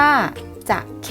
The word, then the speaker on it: จะเข้: อ่าน ว่า จอม ปลวก จะเข้ จะเข้ อ่าน ว่า จะ ใข้ จักร เย็บ ผ้า อุตสาหกรรม